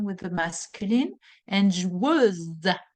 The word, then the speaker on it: joueuse: By the way, the feminine will be une joueuse. Un joueur. The R is ending the pronunciation with the masculine, and joueuse, z. You're going to have the Z sound at the end of it for the feminine.